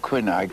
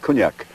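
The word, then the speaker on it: Quinag: what about queen egg well i've always called it quinac you think it's locally it's pronounced cognac cognac i've been writing about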